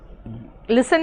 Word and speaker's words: listen: लिसन में क्या होता है ना, टी साइलेंट रहता है, इसीलिए।